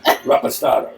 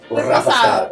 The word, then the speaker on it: reposado: Don Julio Reposado. See, with my accent, it'd be Raposado. It's because you're trying too much. Raposado. Reposado. There you go. Rapastado. No, Raposado. Reposado.